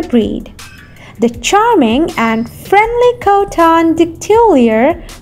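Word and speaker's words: Coton de Tulear: it as heart wrapped in fur number five coton de tullier known as the royal dog of madagascar thanks to nobility's affection for the breed the charming and friendly cotton dictiliar pronounced is covered in a long profuse white coat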